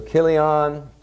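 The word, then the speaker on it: Chilion: it for you but they all pronounce it like a hard CH like character cut and sew Killian and mail on alright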